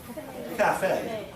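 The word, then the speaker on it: café: So actually it gives it like an A sound. So how would you pronounce the word? Cafe. But of course it's a French word, but we use this word in English. Okay, so cafe. So something interesting with Renee's name,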